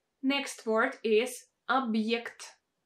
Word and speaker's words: объект: Next word is объект, объект, объект. In this case, we have a vowel Е, and it's pronounced as a combination of Y and E.